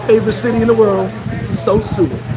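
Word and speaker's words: Sosúa: city in the world so soon and say it right so sue uh don't say it the wrong way so soon what's good with you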